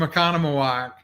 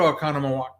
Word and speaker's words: Oconomowoc: there i will ask this and greg's from oconomowoc i should have remembered that greg i'm probably